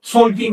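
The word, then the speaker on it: Tzolkin: Ahora, las cuatro cuentas tienen un mismo mecanismo de base, el Tonalpowali, también llamado en maya Solkin en la actualidad. Se pronuncia con S.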